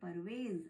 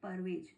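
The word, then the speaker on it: परवेज़: इसे कहते हैं नुक्ता तो इस बिंदी के लगने से उस वर्ण या अक्षर का उच्चारण या प्रोनंसिएशन चेंज हो जाता है तो हम इसे पढ़ेंगे परवेज अगर ये डोट यहां पर नहीं होता तो हम इसे पढ़ते पढ़ते परवेज ओके कुछ और एग्जांपल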